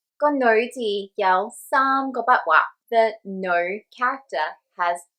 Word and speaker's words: 女: However, when you're talking to people day to day, you're more likely to hear them say lo.